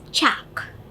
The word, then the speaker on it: chalk: For example, if you remember, CHALK is pronounced as chak.